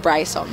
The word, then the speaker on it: Brisom: for everybody tuned in it's pronounced Bryce on by the way he'd